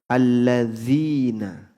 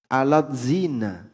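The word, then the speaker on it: الَّذِينَ: Misalnya alladzina, ya. Itu transliterasi kan A L L A D ya. Z I N A. Alat zina. Dibaca alat zina.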